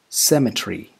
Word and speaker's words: cemetery: means moving on to number six we have c-e-m-e-t-e-r-y is it cemetery i'm afraid not it's symmetry symmetry symmetry number seven c a l o